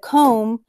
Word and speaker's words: comb: mb at the end of comb but we never say the b sound it's silent it's sneaky so we're going to